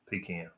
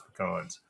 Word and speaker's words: pecan: Pecan. Well, speaking of Caleb Wilson, I don't know about his pronunciation on pecans. It's pecans, but I heard that he's trying to sell a Boone.